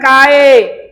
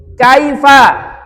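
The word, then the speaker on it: كيف: Kaifa kamu bacanya lembut kai layin jangan kae. Kaifa ojo kaefa ya kai ladaiya ladaika seperti itu.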